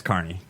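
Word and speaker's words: Kearney: you carne yeah it's Carney but it's it's Kierney it's probably pronounced Carney out there they call it Carney out here you know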